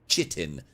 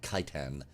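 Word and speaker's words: chitin: I've heard that pronounced all sorts of different ways. I've also heard it pronounced chittin. Uh cuz it's said a lot as far as gestalers are concerned. Boys, you can back me up here. But it is indeed kitan forms around the leviathan.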